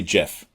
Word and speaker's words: GIF: how do you pronounce the word GIF? I say Jif.